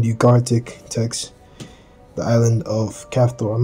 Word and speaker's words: Caphtorim: and replace it with either Caphtorim or some variation thereof, with the emphasis on the first syllable, as is customary in Proto-Asian languages.